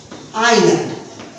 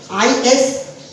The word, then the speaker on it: island: The is used before the name of island. The name of island. ISLANDS. That is pronounced as island, not is land.